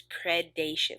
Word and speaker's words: predation: people mispronounce that so it's predation like nation but pred in front of it and just describes any